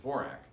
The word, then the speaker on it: Dvorak: As a matter of fact, I had a student when I was teaching Nebraska whose name was Dvorak, although they pronounced it Dvorak.